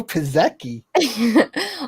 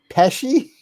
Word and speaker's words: Pesci: say that name again did i say it wrong joe pizeki how did you say it pesci oh joe pesci yeah i didn't say it right i'm sorry i guess